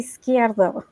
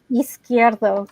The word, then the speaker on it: Yzquierdo: And it's actually Yzquierdo, but it's both last names. Yzquierdo, but both last names are, yes, you got to roll your R's there.